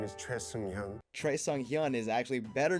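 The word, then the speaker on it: 최승현: Hello, my name is Choi Seung-hyun.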